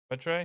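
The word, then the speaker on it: Muetre: the uh Autumn phase name is spelled m u e t r e mut Trey yeah why is that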